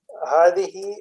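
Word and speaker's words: هذه: Hadihi, which is the feminine of hada, it is pronounced hadihi, but the alif is omitted in writing.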